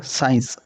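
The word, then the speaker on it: science: इसी प्रकार साइंस साइंस में सी और ई साइलेंट रहा है।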